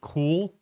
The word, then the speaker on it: CeWL: about a tool called I think it's pronounced cool like it's cool outside or I'm pretty cool and it's a password